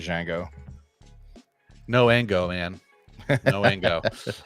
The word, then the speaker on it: Django: dang Django Dango Dango I always pronounce it Jango no Ango man no